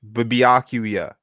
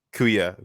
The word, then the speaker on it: Byakuya: Yeah, I'm pronouncing it. Byakuya, Yeah. Byakuya, Byakuya, Yakuya. Byakuya, Byakuya, Byakuya, Byakuya.